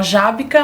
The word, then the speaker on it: Żabka: A gente fala Żabka, mas não se escreve assim.